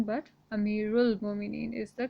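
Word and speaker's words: أمير المؤمنين: it or the tashteed on it okay so amiru al-mo meaning is not the correct pronunciation but amiral bominine is the correct pronunciation next we have asabu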